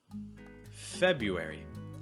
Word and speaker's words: February: Notice that in American English, that first R disappears. You're not going to hear it. So it's going to be Feb, and that's also going to be your stress.